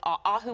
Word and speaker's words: Aahoo: Now I kind of wish I would have stayed with Ahu was my real name.